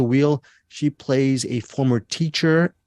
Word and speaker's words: Weil: You mentioned Eric Holmes, Liza, Weil or Wheel? I don't know how you pronounce her name. Weil. Wheel. Yeah, Liza Wheel.